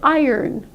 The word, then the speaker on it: iron: to iron your clothing so iron virtually nobody comes to me saying iron but that's how we pronounce it on the other hand